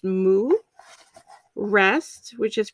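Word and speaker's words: 木: you know them so there's tree which is pronounced mu rest which is pronounced sioux forest which is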